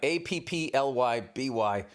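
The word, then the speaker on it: Appleby: It's like apply by, B-Y, Applyby.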